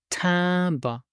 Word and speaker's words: timbre: A stamp is, yes, this is un timbre, and pronounce it timbre, un timbre, masculine noun, and the plural is timberen, timberen.